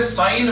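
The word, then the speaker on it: sign: जैसे साइन में जी साइलेंट है, सिन में जी है ही नहीं, लेकिन बोलने में बिना जी वाला सिन है, एंड जहां पर जी साइलेंट है वहां साइन है।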